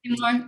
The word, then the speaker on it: Timur: Movies by Timur. How do you pronounce his name? I can't pronounce his name. Timur, it's perfect.